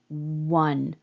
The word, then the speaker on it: one: so nfm system well that's a letter O but when I say w one the first thing coming out of my mouth is a w we tend to think